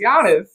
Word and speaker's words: Giannis: ahead and get that his name is GIS no y yan yan silent G okay it's Giannis damn I [ __